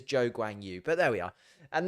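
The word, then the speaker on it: Zhou Guanyu: can pronounce his name you will hear Zoo granu quite a lot or the Zhou Grand shoe which is not his name um it is Joe gwang Yu but there we are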